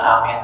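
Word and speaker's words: آمين: Ingat bu, amin itu a-nya panjang, min-nya panjang.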